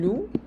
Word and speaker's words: louent: Ou elles louent, elas alugam. Lembrando que o NT aqui não se pronuncia, né?